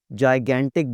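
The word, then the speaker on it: gigantic: आखिरी वाला जाइगैंटिक बोलना है इसको। पहले जी की आवाज़ आएगी जीम से, दूसरे जी की आवाज़ आएगी गाफ से।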